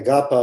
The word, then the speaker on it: AGAPA: was called agapa and the reason i say agapa is because they gave us instructions it's how it's pronounced i still don't get